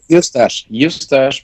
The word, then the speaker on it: Eustache: Is it Eustache? How do you say it? Yeah, Eustache, because it's like mustache with an E at the beginning.